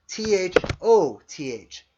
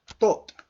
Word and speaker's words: Thoth: T-U-T comes from an ancient earlier word, T-H-O-T-H, Tot. Now, many of you will recognize Tot or Thoth, various ways to say his name, as an ancient Egyptian god, also an ancient Atlantean god.